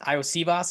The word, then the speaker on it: Iosivas: I think it was Iosivas is how you say that guy's last name.